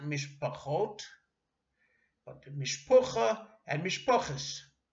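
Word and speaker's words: משפחה: Likewise, family, mishpacha, is not mishpachot, but mishpucha and mishpoches. Stress is different, and of course the Ashkenazic pronunciation is different.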